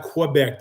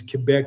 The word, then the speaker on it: Quebec: It's actually when you do the French English alliteration, it's not Quebec. The U is silent. It's actually to say it properly is Quebec City.